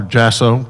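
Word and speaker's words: Jaso: I affectionately call her Jasso, but it's spelled J-A-S-O.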